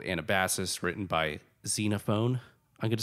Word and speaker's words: Xenophon: saying xenophone instead of xena fun which is how you're telling me it's pronounced um but we're just gonna disagree on this team xenophone all the way um xenophone sounds too much like xenophobe so you can have